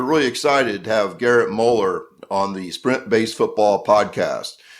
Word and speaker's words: Mueller: Yeah, so my dad always taught me it's Mueller like color.